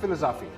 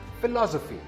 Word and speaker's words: philosophy: This word is not philosophy. It's philosophy. The second syllable is stressed.